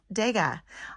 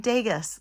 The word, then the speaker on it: Degas: And what I'm most excited about is that I now can pronounce Degas. I was saying Degas, like Vegas, and I cannot thank